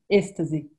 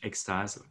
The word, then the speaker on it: Êxtase: How do you pronounce it, first of all, in Portuguese? Êxtase. Oh, okay. So in French, Êxtase.